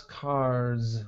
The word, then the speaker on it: cars: Okay, so both words end in S, but I would pronounce cars with more of a buzzing sound, more of a Z sound.